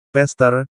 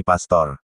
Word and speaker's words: Pastor: kentara terdengar dari lafalnya pester pester hehehe Pak Pendeta bila sedikit mau mempelajari sejarah gereja maka kata Pastor itu berasal dari bahasa latin dan bacanya lafalnya tetap yakni Pastor bukan pester harus diketahui bahwa bahasa